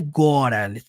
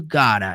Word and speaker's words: gotta: Esse gotta não é gora, necessariamente gora, go. Fica um pouco mais aberto.